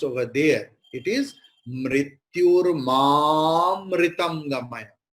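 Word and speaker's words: मृत्योर्माऽमृतं: It is mrityurmamritam gamaya. So just before avagraha, there is a. So a will be prolonged.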